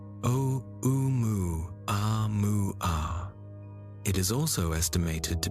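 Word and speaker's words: ʻOumuamua: It is estimated to be roughly 1 million times more massive than the first interstellar visitor detected, which was oma, pronounced o u mu a mu.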